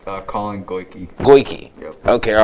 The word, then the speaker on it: Goyke: So we wanted to let everybody know how you pronounce your name. Collin Goyke. Goyke.